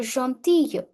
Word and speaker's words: gentille: Elle est gentille. Gentille. Double L silent. Gentille.